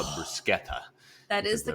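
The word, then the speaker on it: bruschetta: going to get right they have the best brushetta they call it brusketta that is the correct pronunciation yeah so they had the best Bretta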